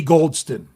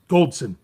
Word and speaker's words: Goldson: Trice can never be Goldston. Goldson. I said it wrong.